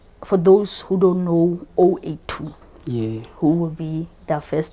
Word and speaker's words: 082: together like 082 and pronouncing it with an O. Okay. So like it spells out Owethu. Okay. But it's just a unique way of saying it.